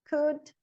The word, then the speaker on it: could: O L não é pronunciado em cough, talk, could, should, would.